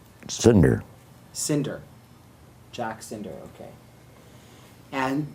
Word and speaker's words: Sinder: What's pronounce the last name for me? Sinder. Sinder.